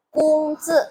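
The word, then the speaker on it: 工资: Ini O jangan dibaca eee ong ya. Terus G ini dibacanya pakai K. Jadi K U N G gitu istilahnya. Ce ce aja enggak apa-apa pakai C E gitu bacanya.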